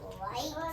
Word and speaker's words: light: in this middle box we're going to have i g h to make that long I so l i g h in the one box cuz it makes one sound and then T at